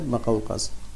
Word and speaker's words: مقوقس: میم پہ پیش ہے اور قاف پہ زبر ہے، مقوقس. اس کو کچھ لوگ مقوقس پڑھتے ہیں لیکن صحیح تلفظ اس کا ہے مقوقس.